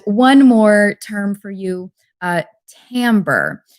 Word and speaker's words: timbre: And one more term for you, timbre. It's spelled Timbre, if you wanted to look that up.